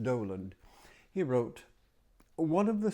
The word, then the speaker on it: Dowland: Let me do Doland. John Doland. It looks like Dowand, but it's pronounced Doland.